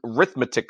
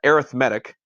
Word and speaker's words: arithmetic: There are 3 types of sequences: an arithmetic sequence, or an arithmetic sequence, a geometric sequence, or neither. Arithmetic or arithmetic, just depending on how you pronounce it.